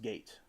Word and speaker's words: gait: And Stranded said, "Gait pronounced gate."